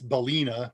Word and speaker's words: balena: It's Balena, B-A-L-E-N-A, when I first read about it, and I have been mispronouncing it and misspelling it ever since.